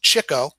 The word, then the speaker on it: Chico: As with the 3 oldest brothers, his nickname, pronounced Chico, was given him by Art Fisher during a poker game. Leonard was notorious for chasing after the chicks or women.